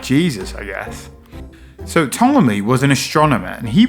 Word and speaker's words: Ptolemy: Now, it's actually spelled like Ptolemy, but I guess it's a silent P because it's just Ptolemy.